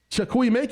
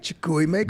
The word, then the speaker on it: Chukwuemeka: Without further ado, I want to introduce you to my very good friend, Chukwuemeka. Chukwuemeka, I said it right. Chukwuemeka.